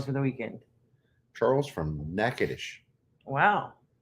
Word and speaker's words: Natchitoches: Charles from Natchitoches. Wow. And if you think I mispronounced it, I didn't. It's just how we do things in Louisiana.